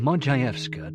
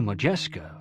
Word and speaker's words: Modjeska: She changed her name from Mojayska to Majesca for ease of American pronunciation.